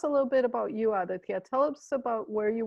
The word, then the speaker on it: Aditya: me i have aditya am i pronouncing that right aditya perfect yes that's a perfect pronunciation wonderful so